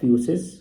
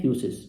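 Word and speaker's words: physis: ये जो main word है वो है आपके पास फ्यूसिस। कई बुक में आपको ऐसे स्पेल दिखेगा, कई बुक में ऐसे दिखेगा, बट प्रोनाउंसिएशन सेम है, फ्यूसिस।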